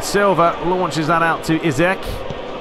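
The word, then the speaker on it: Isak: launches that out to izek that's how we're going to pronounce his name i've googled it and it's not isaac it's easy basically you've got a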